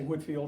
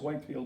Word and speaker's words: Whitefield: a little boy but I learned to say Whitfield and I think that printer about proper pronunciation is Whitefield but nevertheless Benjamin Franklin